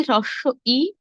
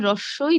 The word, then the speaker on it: হ্রস্ব ই: একইভাবে হ্রস্ব ই, দীর্ঘ ই। অনেকে এটিকে বলে থাকেন রস্বই দীর্ঘই। রস্বই দীর্ঘই হবে না, সঠিক উচ্চারণ হবে হ্রস্ব ই, দীর্ঘ ই।